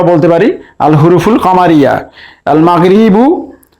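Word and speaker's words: المغرب: আল মাগরিবু এর আলিফ লামের লাম উচ্চারণ হচ্ছে, তাই এটিকে আমরা বলতে পারি আল হুরুফুল কামারিয়া।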